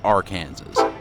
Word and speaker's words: Arkansas: We are south of downtown Wichita on the K&O Railroad's Arkansas River Bridge, and yes, for you out-of-staters, in Kansas, it's pronounced Arkansas.